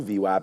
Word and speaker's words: VWAP: Whenever there's the gap, we play the fade back to VWAP. So gap VWAP, it rhymes.